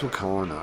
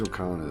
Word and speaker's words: Wakana: It's Wakanda. I keep saying it wrong, too, though. I keep saying like Nawa. all kinds of things. Her name's Wakana though.